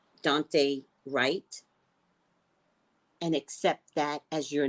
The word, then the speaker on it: Dante Wright: Pronounce his name right. Dante Wright.